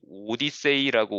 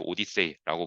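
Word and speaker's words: OHDSI: 입장에서는 굉장히 좋은 것이니까 이 오디세이라고 우리가 발음을 하는 OHDSAI라고 하는 어떤 단체를 만들었습니다. 그래서 이것은 Observational Health Data Sciences and Informatics라고 해서 우리나라에서 이제 오디세이라고 부르고 있고요.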